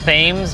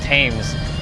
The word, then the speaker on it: Thames: So I mean, yeah, actually, well, it's I meant to say Thames, but I think it's pronounced tames cuz the H is silent.